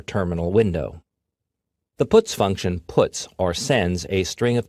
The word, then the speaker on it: puts: are the most popular they are pronounced printf putcar and puts each function is designed